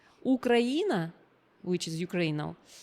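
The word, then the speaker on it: Украина: like Ukraine and this word Ukraine in Russian it means it's um pronounce ukraina ukraina which is Ukraine now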